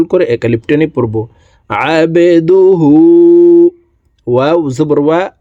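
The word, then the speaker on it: عبده: হাকে ঠোঁট গোল করে এক আলিফ টেনে পড়বো আবেদুহু ওয়াও জবর ওয়া র জবর র ওয়া র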